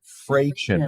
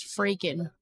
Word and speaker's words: Frachen: It's a long A. Okay. Right there. Is that German? No, it's Swiss. He gets so upset when people mispronounce it, though. Frachen. Everybody usually does Fraken. Franken. Van Fraken. Frankenstein. Van Frachen. Like, where's the K, guys?